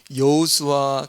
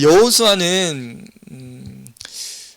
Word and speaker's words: 여호수아: 자, 여호수아는 여호수아, 우리 발음은 여호수아인데 히브리 발음으로는 예호슈아입니다.